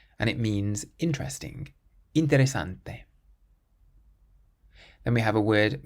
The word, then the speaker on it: interesante: This next word ends in a vowel. Interesante. Interesante. So we stress the syllable before last, and it means interesting. Interesante.